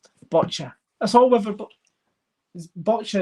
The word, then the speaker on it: boccia: Botcha is what I was told is exactly how you pronounce it.